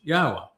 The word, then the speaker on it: Yahweh: to prove emphatically that Yahweh's name is pronounced Yahwa and the initial proof was actually quite easy but we didn't end it there.